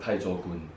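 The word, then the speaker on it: 太祖拳: Okay, in Hokkien, in our dialect, we call it Taichokun.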